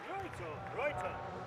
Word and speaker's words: Roito: Roito. I'm glad I know how to say it. Roito. It's a Nordic, Scandinavian/Nordic name. So Yeah. it's Roito.